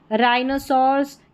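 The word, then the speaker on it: rhinoceros: यानी H यहाँ पर साइलेंट है, R का उच्चारण है। यहाँ पर देखिए राइनोसॉर्स, यहाँ पर है रैटोरिक, और यह है रूमेटॉइड, रूमेटॉइड, ठीक है, मुश्किल स्पेलिंग्स है।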